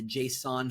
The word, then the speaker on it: JSON: There is a HTML file, a JS file or a JavaScript file, and a JSON file. And they're always pronounced JSON. It's JSON, not Jason, because that's a name, but JSON.